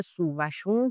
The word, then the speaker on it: سووشون: تلفظها تلفظای درستی هستن چه سوشون چه سوشون سوشون سوشون جفتشون درستن خود سیمین دانشور هم توی رمان سوشون دقیقاً این نکته رو بابت رمان سوشون دقیقاً این نکته رو میگه که جفتشون تلفظ‌های درستی هستن و خب سوشون انگار توی شیراز و بین ایلات بیشتر کاربرد داره تا سوشون ولی خب اهالی ادبیات سوشون هم تلفظ میکنن گفتم اصلاً اشتباه نیست جفتش درسته سبشون رو ما خودمون